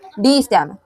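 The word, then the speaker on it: Die Stem: था, ब्लैक के द्वारा डी स्टैम, डाई या डी बोलो, मेरे को प्रोनाउंसिएशन ढंग से नहीं समझ आया था इसका, लेकिन इसको बोलते हैं डी स्टैम, ठीक है।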